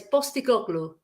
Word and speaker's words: Postecoglou: Because P is pronounced as a B in Greek, yeah? So it's Postecoglou.